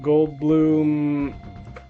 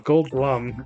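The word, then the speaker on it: Goldblum: slightly muddled because there's the whole like Jeff Gold Bloom. Wait, Gold Bloom. Gold Blum, right?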